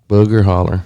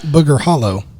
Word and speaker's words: Booger Holler: Booger Holler. Not Booger Hollow. No, Holler. Booger Holler. And it was spelled Holler.